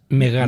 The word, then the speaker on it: Megara: Megara Arcadia, aquesta ha passat. Megara. Què he dit? És Megara. Megara. Ja veieu que no pronuncio gaire bé.